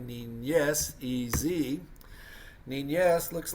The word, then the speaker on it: niñez: Número 12 would be niñez. N-I-N-Y. Well, that's the N with the little squiggly mark over it, which we pronounce that word like a ñ, like N-Y, niñez, E-Z.